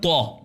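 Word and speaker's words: طاء: اس کے بعد حرف ہے طا. یہ موٹا حرف ہے, ایک دو نقطی تا ہے وہ پتلا ہے, اس کا تلفظ باریک ہے. تا بلکہ یہ طا ہے. تو تو اس کو توئیں نہیں پڑھیں, توئیں پڑھیں گے یہ اردو ہے. توئیں اردو میں, اردو الفابیٹ میں کا تلفظ ہے توئیں. عربی میں آپ جائیں گے تو یہ طا ہوگا.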